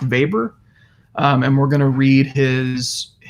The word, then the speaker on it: Weber: talk about Max Weber it looks like Weber it's pronounced Weber and we're gonna read